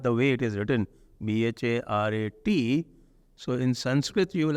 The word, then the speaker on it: Bharat: this problem of pronunciation, the schwa deletion that happens in Hindi. Yes. Like Bharat, they'll swallow the A. So Bharat becomes, if Sanskrit, if you translate the Bharat the way it is written, Bharat, so in Sanskrit you